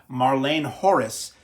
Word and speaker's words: Marleen Gorris: No, it's spelled Marleen Gorris, but people closer to the section of the world where she came from in the extras on this refer to her as Marlene Horace. So whichever you prefer, I think I've probably pronounced it correctly one way or the other now.